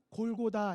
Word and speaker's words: 골고다: 분이 계실 수 있는데요 사실은 같은 말입니다 이 알아 뭐 히브리어로 했을 때 발음이 골고다 인 것이고 우리 한국 막 씩으로 했을 때 그 것이라 친 으로 해서 영어식으로 바뀌면 텔 볼이 가에 갈보리 가 되는 것입니다 그런데 골고다의 뜻이 뭐에요 왜